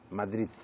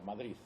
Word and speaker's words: Madrid: existe donde nace en madrid madrileñas porque le pronuncian pronuncian los madrileños matriz con una z madrid muchos pronuncian así en cataluña dicen madrid con una tesis de modo que depende un poco de por dónde vas yo